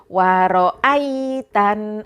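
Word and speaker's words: رأيت: Waro'aitan ai, bacanya ai bukan ae.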